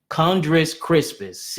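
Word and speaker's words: Chondrus crispus: hundred Crispus all right conch I can't even pronounce it right kundrus Crispus CH o n dr us Crispus and uh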